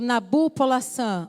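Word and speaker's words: Nabopolassar: Portanto, quando o pai de Nabucodonosor, o Nabu-Polassar, ou Palassar, depende da pronúncia. Se você ouvir outra pessoa falando de outra maneira, não tem problema.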